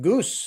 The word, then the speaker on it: Gus: So you can go to Gus. You pronounce it Goose natively.